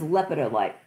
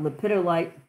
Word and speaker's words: lepidolite: of my favorites okay this is lepidolite some people call it lipidolite i'm trying to get